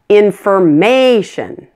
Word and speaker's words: information: take the word information it has four syllables in fir Mei shun the suffix is tion tion so primary stress is just before that syllable it's on may information in firm nation how